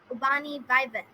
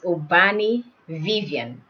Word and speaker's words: Ubani Vivan: do i spell your name do am i pronouncing it correctly ubani vaivan is that oh there's a bit of an error there so it's obani vivien vivian oh that's unique vivian oh right okay